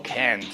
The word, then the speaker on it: can't: Recuerden que cuando decimos el negativo can't, you can't choose, right? Le damos un poquito de pronunciación E. You can't choose, yeah. Y cuando decimos positivo, no pronunciamos la vocal.